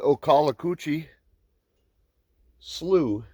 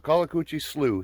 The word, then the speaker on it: Okaloacoochee Slough: very very primitive um i think i said the name wrong earlier it's the ocala coochie slu state forest akalakuchi slough state forest that's a tongue full